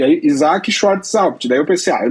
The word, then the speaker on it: Schrar: Então, eu, eu escrevi lá na bio Schart, leia assim que daí ninguém vai mais errar, né?